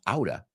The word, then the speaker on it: out of: here you're in luck you're out of luck which we usually pronounce Auda ooh you're out of luck